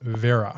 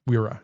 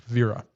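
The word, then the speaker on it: Wera: But it's pronounced Vera. Oh, it's nice and backwards for you, I think, in in German, but it's not Wira. It's Vera.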